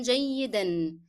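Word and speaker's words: جيدًا: Okay, نوما will be pronounced with the sound of N because I connected to the following word. نوما جيدا.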